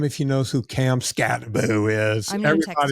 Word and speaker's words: Skattebo: Yeah, it's pronounced Scatterboo. It might be two T's, Skattebo. Could be Boo. I'm not sure. Cam I mean, Scatterboo. it doesn't phonetically look like that, but that's okay.